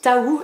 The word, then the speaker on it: Taou: On passe d'un gros livre à un tout petit, j'ai reçu Taou, donc on dirait qu'il y a écrit To, mais il y a bien marqué derrière que ça se prononce Taou, et tant mieux, comme